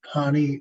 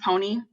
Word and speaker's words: Pawnee: We'll next move to Pawnee. Ms. welcome to the committee. Hi, my name is pronounced Pony.